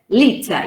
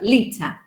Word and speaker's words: liter: this case in liter the stress sound is lee litter you don't say litter but lita okay so how do